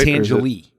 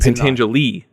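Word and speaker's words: Pentangeli: I can never pronounce his name right. Pentangelene. Is that right? Pangelie. And Pangelie.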